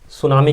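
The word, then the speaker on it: tsunami: हम पढ़ने वाले हैं सुनामी के बारे में। जी हाँ दोस्तों, वही सुनामी जिसमें टी साइलेंट होता है, ठीक है ना, टी साइलेंट होता है इसमें।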